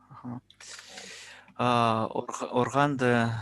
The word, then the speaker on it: органды: Органды, сегрбе, на кровати не прыгай. Органды, вот, точнее будет органды, сегрбе. Органды. Ударение на первый слог.